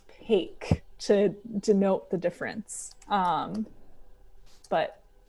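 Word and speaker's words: pak: and there's one called PA K which it's pronounced Paik to denote the difference but ya take and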